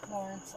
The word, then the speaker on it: Lorincz: her last name does not look like it's supposed to be pronounced in that way l o r i n CZ like at all that's correct yeah her